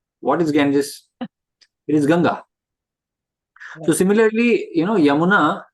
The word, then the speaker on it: Ganga: as you know like for example ganga they make it Ganges even Indians when they go abroad they say Ganges what is Ganges it is ganga so similarly you know